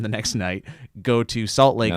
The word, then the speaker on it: Spokane: Salt Lake, perform the next night, go to Spokane (pronounced correctly), Spokane (pronounced incorrectly).